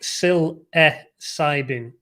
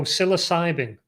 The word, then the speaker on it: psilocybin: me say this in the comments sounds like sil e cybin oh psilocybin psilocybin not a not a sound but psilocybin